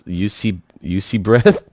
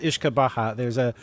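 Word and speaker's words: uisce beatha: It's actually pronounced Ishkabaha. There's actually a band by that name.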